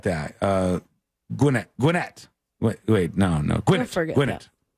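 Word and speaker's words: Gwinnett: that way but it it is pronounced just like it's spelled it's not gwet it's not guet it's gwet guet Gwinette County GW n t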